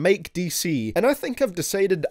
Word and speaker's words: Dece: that features both Denzel Curry and Mike Dece (pronounced Mike Dee-Cee), and I think I’ve decided I love it whenever these guys collaborate.